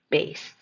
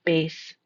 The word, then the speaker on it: bass: The first pronunciation is bass. Bass. This is a very low sound. So we'll hear that with singers. It could be a bass singer.